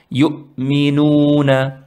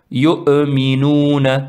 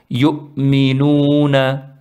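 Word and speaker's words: يؤمنون: Mais parmi d'autres erreurs que certains font, en prononçant Hamza, ils font qalqala. C'est-à-dire, ils font yu'minuna, yu'minuna. C'est un peu trop pour une hamza. Elle ne se prononce pas vraiment correctement. Elle se prononce pas vraiment comme ça. Elle se prononce yu'minuna.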